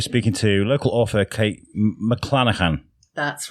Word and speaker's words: McLanachan: Yeah better if it was for free but today uh we're speaking to local author Kate Mlanahan. That's right. Did I did I pronounce it right?